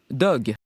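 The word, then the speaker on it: Dogue: Il s'appelle Dog. Oui, et ça s'écrit D-O-G-U-E.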